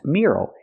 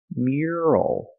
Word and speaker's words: mural: pronounce the word mural it's not pronounced mural it's pronounced mural mural use the Y sound like yes and yesterday M M plus the r sound like Burger Mir not mural but